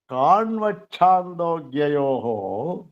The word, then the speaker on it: ಕಾಣ್ವಚ್ಛಾಂದೋಗ್ಯಯೋ: ಆದರೆ ನಾವು ಉಚ್ಚಾರ ಮಾಡುವಾಗ ಕಾಣ್ವಚ್ಛಾಂದೋಗ್ಯಯೋ ಅಂತ ಒತ್ತಬೇಕು. ಚಕಾರಕ್ಕೆ ಚಕಾರ ಒತ್ತಾಗಿದೆ. ಯಾಕೆ? ನಿಯಮ ಅದು. ಈ ಚಕಾರ ಬಂದಾಗ ಅದು ನಿಯಮ ಅದು. ಅಕಾರದ ಮುಂದೆ ಚಕಾರ ಬಂದಾಗ ಮಹಾ ಇನ್ನೊಂದು ಚಕಾರ ಮಹಾ ಒತ್ತಬೇಕದು. ಕಾಣ್ವಚ್ಛಾಂದೋಗ್ಯ ಒತ್ತಕ್ಷರ ಬರ್ತದೆ.